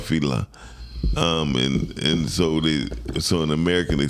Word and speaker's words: Fela: So no, because in his own country it's called Fela. And so in American they spell it fella.